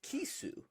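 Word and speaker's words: キス: The smelt whiting fish is pronounced as kisu in Japanese.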